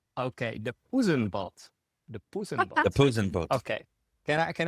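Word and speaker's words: Poezenboot: It's uh it's called and please and please help us pronounce this deenant boot. It's like pusen boot. Pen boot. Yeah. Okay. The pen bolt. The pusenbot.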